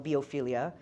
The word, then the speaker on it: Biophilia: album so for example for her uh album biophilia which is how she uh pronounces it um the words that she brought